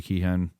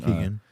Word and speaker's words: Keoghan: I mean, I thought Barry Keoghan, I probably pronounced his name wrong. Keegan. Keegan.